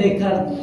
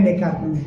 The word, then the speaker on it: Descartes: Dan S di akhir kalimat dalam bahasa Prancis itu gak dibaca.